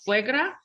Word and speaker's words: suegra: Can you spell that or sound it out? Suegra?